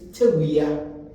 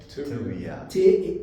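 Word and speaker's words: Tawiah: And a name like Taylor, it is from the Ghanaian name Tewia. Tewia.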